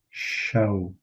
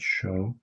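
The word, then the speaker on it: شەو: Night would be shaw. It's like, you know, the British pronunciation of the word shaw, which would be shaw.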